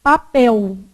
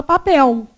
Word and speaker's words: papel: com esse L aqui o l ele pode ser pronunciado com som de u por exemplo na palavra o quê papel não é isso se